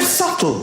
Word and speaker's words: subtle: The word subtle. Would anybody object if it was spelled s u t l e? Not a single person would. But there's a b in the middle going sh.